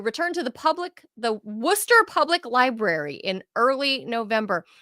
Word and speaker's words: Worcester: Beardsley was returned to the now do we pronounce this Worster or Worchester it's uh neither it's actually ien to know this wer wer M I forgot I have a friend from it's it's Worcester they would say wer Wester yeah I forgot